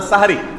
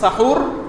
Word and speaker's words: সাহরি: হয় সাহুর আর না সাহরি, হয় বলবেন সাহুর, আর সাহুর বলতে যদি কষ্ট হয় দরকার নাই তাহলে সেহরি না বলে সাহরি বলুন, দন্তস্বর উপরে আকার দিয়ে দেন, ব্যাস হয়ে গেল, তাহলে বিশুদ্ধ উচ্চারণটা হবে।